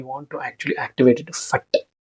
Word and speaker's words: Phat: purpose normally the fat when you pronounce the word fat it creates energetic ex exclus um explosion even whenever you use word fut you use fut f see F here you will not touch the tongue okay it is energetic